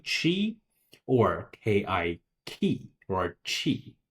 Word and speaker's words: qi: And of course the qi is pronounced as chi or chi chi.